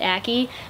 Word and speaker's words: Aki: her and they do explain that acne is pronounced a key because I couldn't tell if it was a